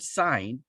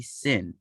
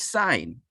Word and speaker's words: sine: we still call it sign it is not going to be sin many people call it sin you know it always